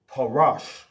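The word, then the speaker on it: פרש: And it's pronounced in the Hebrew, parash. Pa. Pa. Parash.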